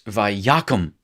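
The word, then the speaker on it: וַיָּקָם: So you'll hear me say, now listen, it's vayakum.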